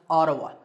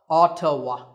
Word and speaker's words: Ottawa: Yes, it's pronounced Ottawa. Ottawa.